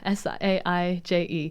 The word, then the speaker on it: Saije: not spelt like the herb, but said like the herb, but spelled Saije. Wow, I'm glad you said that. Yeah, Saije. Because I would have been like, say, yeah. No worries. So sage, you say it like you would say sage.